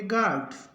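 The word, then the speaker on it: guard: का उच्चारण नहीं होगा जी यू ए आर डी तो इसको पढ़ेंगे गार्ड यू का उच्चारण नहीं होगा उसके बाद जी यूई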